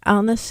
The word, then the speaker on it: Agnes: We should first say that your name is spelled Agnes, but Agnes is how it is correctly pronounced in your native Denmark.